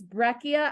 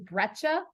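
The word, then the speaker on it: breccia: so there are conglomerate I pronounce this breia I have heard it pronounced lots of different ways including breta um but I don't see breta on there at all when I look at it so I still am stuck with breia sandstone siltstone and shell here's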